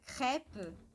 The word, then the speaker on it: crêpe: come, que é gostoso, que tem um acento circunflexo. E o acento circunflexo em francês ele é diferente do português. Então ele vai abrir mais a letra, sendo que no português ele fecha.